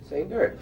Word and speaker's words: Sainert: Now, why do you say the accent is on the last syllable? He likes it that way. Say nerd. It's like say nurse, only say nerd.